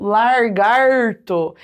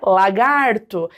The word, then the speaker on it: lagarto: Então, por exemplo, quando a gente tem lá lagarto ou largarto, esse largarto, ele tá descumprindo a premissa da ortoépia na língua portuguesa, porque entende-se que a pronúncia adequada da palavra é lagarto.